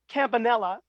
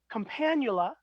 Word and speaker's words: Campanula: Because you say campanella. Uh-huh. I say campanula, but others say campanula. So it's one tomato, potato.